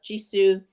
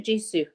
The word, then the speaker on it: Jisoo: um but there's there's just a picture of jisoo heian and Jenny and that's it this there's